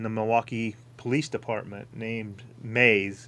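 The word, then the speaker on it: Moews: milwaukee police department named mays it's spelt m-o-e-w-s or something's weird but it's pronounced maze he was a lieutenant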